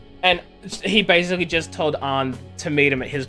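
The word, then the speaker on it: Ann: volleyball position and is basically essentially beating up and saying that her friend won't get on the team if arm doesn't do what he wants her to do and he basically just told on to meet him at his place tonight why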